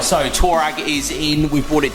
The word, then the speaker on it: Touareg: It's not a Touareg. Touareg. No, it's Touareg. Pronounced Twa. with a hidden W somewhere. It's a Touareg. Is an O and a U with the G. No, there's not a hidden and W. then it's reg at the end.